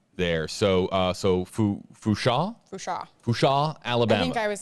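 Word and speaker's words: Fourchon: Hashtag AJB, it's Fushan with a silent N there. So Fusha, Alabama.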